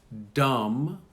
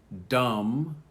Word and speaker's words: dumb: This is the silent B, and notice they come after the M.